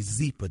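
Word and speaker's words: Zyppah: It's Zeepa, pronounced Zeepa. It's spelled Z-Y-P-P-A-H. It's easy to remember because Zeepa is happy Z spelled backwards.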